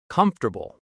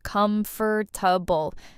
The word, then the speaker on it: comfortable: Comfortable. A lot of learners say every letter, comfortable, but native speakers say it shorter. Comfortable. Three parts, not four.